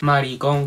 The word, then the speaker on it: maricón: con mujeres, que soy maricón con acento en la O, que me gustan los hombres?